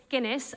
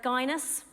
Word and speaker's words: Guinness: in the church my second name is Guinness and when I make a booking at a restaurant I usually say oh it's Guinness like the drink and there have been times though where people have mispronounced my name and call me geinus not being my favorite one uh but the my favorite one yet has been genius I like that one